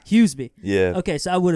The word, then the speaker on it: Huseby: How do you pronounce the last name? How do you say it correctly? Huseby.